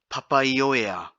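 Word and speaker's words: Papaioea: Papaya, Papaya. Now this one's a little bit tricky because you have 5 vowels in a row. Papaya. So trying to have papai as one. Papai or of air. Papaya.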